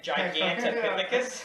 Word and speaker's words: Gigantopithecus: How do you pronounce the first one? Gigantopithecus.